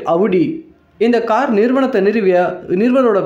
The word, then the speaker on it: Audi: முதல்ல ஆடின்னு அழைக்கப்படுற இந்த காரோட சரியான உச்சரிப்பு பெயர் அவுடி.